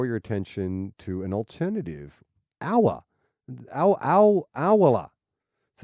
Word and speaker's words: Owala: Owala. So it's the second person who's recommended this. The Owala tumbler has How do you spell it? O-W-A-L-A. Owala? Owala. O-W-A-L-A. Owala. O-ala. Owala.